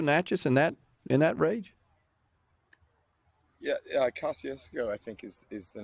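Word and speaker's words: Kosciusko: Yeah, Kosciuszko, I think is the name, if I'm Yeah.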